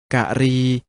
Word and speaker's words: กรี: ๆ เห็น อยู่ นี้ ถึง แม้ จะ เขียน เหมือน ตรี แต่ ออก เสียง ว่า กะหรี่ หมาย ถึง ช้าง มา